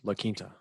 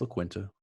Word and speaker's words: La Quinta: I believe it's pronounced La Quinta. No, it's La Quinta.